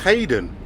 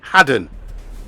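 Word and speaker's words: Haden: spelled his name h a d e n Haddon okay and he said it's pronounced Hayden so I'm gonna go right I'm gonna say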